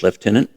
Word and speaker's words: Lieutenant: word with you please leftenant he said and walked back to his office with the traffic slips barbar followed smiling at the British pronoun pronunciation of Lieutenant he shut his door